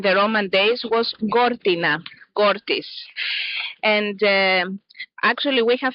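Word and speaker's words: Gortys: ancient Greek and the Roman days was Gortina Gortis and um actually we have found a wall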